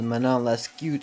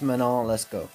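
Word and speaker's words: Manon Lescaut: how to pronounce that originally I thought it was my not less cute or something like that but it's mono let's go basically the plot was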